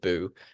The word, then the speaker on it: Buu: little kitten so it's it's spelled Buu but it's just boo um he is a